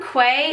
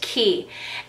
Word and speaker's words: Quay: did I call them Quay in the beginning maybe I did they're spelled q a y but that's pronounced key and I'm like one